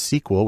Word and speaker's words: SQL: The most common language there is SQL, usually pronounced "Sequel," which stands for Structured Query Language, because that's where the data is.